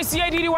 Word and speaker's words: Ciddy: It's your boy CIDDY, pronounced Caddy.